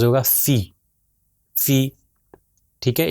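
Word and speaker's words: فِ: اس کا تلفظ ہوگا فی، فی۔ ٹھیک ہے، اس کو فے نہیں کہیں گے بلکہ کہیں گے فی۔ تو یہ ابھی تک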